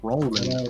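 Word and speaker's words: Rollman: time with my last name and it's too syllables can't imagine that uh rman r o l l m a n r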